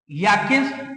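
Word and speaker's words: Reykjanes: Emergency following 4th volcanic eruption in द याकिन्स peninsular. इसको are silent बोलेंगे, याकिन्स peninsular में।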